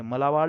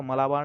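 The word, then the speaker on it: Malabar: मालाबार यहां पर देखिए मालाबार लिखा हुआ है तो मालाबार नहीं इसको आप सही कर लीजिएगा यहां सही उच्चारण क्या हो जाएगा मालाबार मालाबार सैन्य अभ्यास अगला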